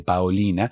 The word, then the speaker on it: Paolina: escuchábamos la voz de paolina y es necesario pronunciar así para que no se confunda con otro nombre porque paolina lo lo